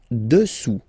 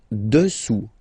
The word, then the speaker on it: dessous: Dessous. Dessous. Final S not pronounced here. Dessous.